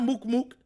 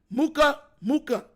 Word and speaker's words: Muka Muka: Not Mook Mook. Muka Muka. M-U-K-A-M-U-K-A. Muka Muka. You gotta say it like that too.